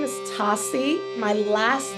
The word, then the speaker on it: Tosi: So my first name is Tosi.